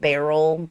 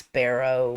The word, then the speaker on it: barrow: And we live in the south, so we pronounce it barrel, but it's barrow.